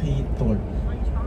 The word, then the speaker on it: Giethoorn: Ha dia macam kha kha lembut eh. A tapi kalau ejaan dia tulis G. Aa G. A G I So tapi dia sebut hitor.